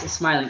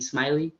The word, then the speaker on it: Smiling: Yeah, it's Smiling, Smiling.